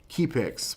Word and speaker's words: Kiipix: It was a company called Keypix, which is spelled Kiipix. Keypix, something like that.